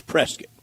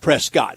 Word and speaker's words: Prescott: But it it's it the pronunciation is Prescuit. Okay. Not Prescott.